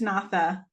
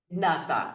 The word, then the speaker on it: Natha: I forgot to ask you again how you pronounce it. That's My close enough, but it's Natha. Natha.